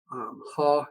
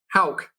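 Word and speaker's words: Haugh: You may have a good case for Haw. Is that how you say his name? From Florida, Thomas Haw. Yeah. Hauk. That's it. Hauk.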